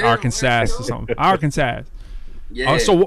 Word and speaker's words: Arkansas: But let me tell you, my sweet spot is Little Rock, Arkansas.